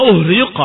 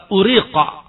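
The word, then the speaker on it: أُهْرِيقَ: Qala fa uhriqa alaih. Dituangkan kepadanya. Kalimat uhriq dari kata uriqa alaih. Araqa artinya menumpahkan, menuangkan. Uriqa. Ubdilatil hamzah ha'an. Tetapi orang-orang Arab membacanya uhriqa. Diganti hamzahnya dengan ha.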